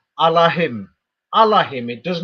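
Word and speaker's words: אלהים: It's written with the letter A there. If anybody knows Hebrew, it's not written with the letter E. So it actually says Allahim. Allahim. It does not say Elohim there.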